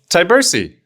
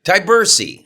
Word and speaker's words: Tyburczy: how do you say your last name Ty Bersy Ty Bersy okay cuz it's spelled really tricky it's all over the place